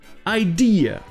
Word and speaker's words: idea: Ou alors vous aurez la même chose dans une idée, idea. Vous aurez le E qui se prononcera I et le A qui se prononcera E.